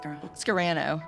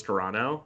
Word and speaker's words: Scarano: You say Scarano, you say soprano.